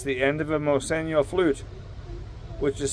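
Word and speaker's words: Moseño: But actually, it's the end of a Moseno flute, which is spelled M-O-S-E-N-O, and N, as in Nancy, has a tilde over it, which makes it pronounced Nya.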